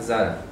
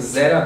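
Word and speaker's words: זָרַע: Dice Beishak yikare lecha Zara. Eso se pronuncia así, vamos a escribirlo: Beishak yikare lecha Zara. Es con A porque está en pausa, debería decir Zera, pero como termina en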